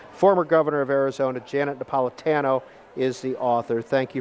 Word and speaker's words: Napolitano: one that we've debated is your last name pronounced Napolitano or Napolitano Paula dado tan oh the hard ten okay